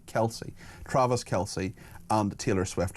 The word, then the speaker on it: Kelce: How do you pronounce? Yes, Kelsey. Kelsey.